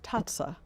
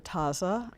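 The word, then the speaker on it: tazza: bowl is huge well in italian it's pronounced tatsa but locally we call it the taza and tatsu means cup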